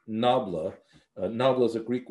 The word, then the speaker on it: nabla: so this mathematical symbol the symbol itself is pronounced nabla a noble is a greek word or an